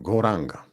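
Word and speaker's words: Gauranga: Rozpoczynamy nasz program medytacją z oddechem, goranga. And the mantra, being Goranga, will be divided into 4 syllables. Go, ra, anga.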